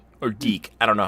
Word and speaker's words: DiC: adaptations and of course the cartoon series from dick or deke I don't know how you pronounce it di see it's pronounced deke deke